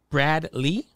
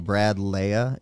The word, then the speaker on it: Brad Lea: the show this week Brad Lee am I saying it right you ain't lying yeah I've been calling you since I've been following you Brad Leia is the a silent how did like until